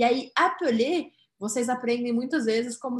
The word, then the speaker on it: appeler: Appeler. Porque este é o verbo no infinitivo. Infinitif. Tem dois P's, mas tem um L só. O que vai me fazer pronunciar desta forma, ó.